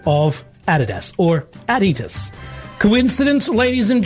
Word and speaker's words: Adidas: But part of the conversation was the pronunciation of the brand name Adidas or ad-ee-tus.